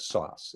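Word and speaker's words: SOSS: Some of you are familiar from my Super Staff Supervision book, my concept of sauce. It's spelled S-O-S-S, Signs of Super Staff.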